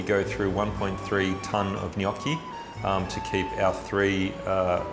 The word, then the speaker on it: gnocchi: is our business gnocchi be pronounced so many different ways we've heard junochi we've heard gennaki we've heard uh noki noki or noki some say noki something gnocchi the proper way is you really have